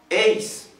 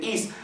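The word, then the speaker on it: εἰς: Esta frase tiene una primera palabra, eis. Algunos la leen is. ¿Por qué le aplican la pronunciación del griego moderno, hermanos?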